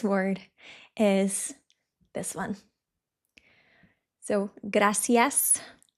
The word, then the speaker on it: gracias: So, gracias. It depends where you are, but where I'm from in Spain, in midspain, we say graas. So, the Z and the I is the.